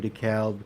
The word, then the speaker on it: DeKalb: because we have a DeKalb County in Georgia the L doesn't really get pronounced much I don't know why